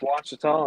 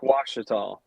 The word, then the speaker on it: Ouachita: Appreciate y'all having me on tonight and ready to give a little preview for Lake Ouachita and talk about what's going on down there.